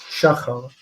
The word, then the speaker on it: שחר: the segolet structure is, of course, patach patach, with the accent on the mil el. It's the previous syllable, shachar.